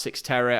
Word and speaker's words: Cyxtera: spelt like this and it's pronounced six terror i honestly it it